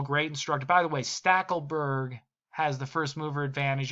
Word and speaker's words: Stackelberg: Kroll set us straight and said, it's a German name. He's a very German guy himself. That it's pronounced Stackelberg.